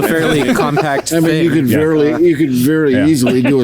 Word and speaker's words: NIU: So How do you say that? Well, James insists on murdering the name. So You. James insists on calling that a Nui. So that's wrong.